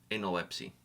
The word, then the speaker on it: Analepsy: of the band is enolepsy I think I said it right there yeah with some emphasis on the anal and the Ipsy and the FC who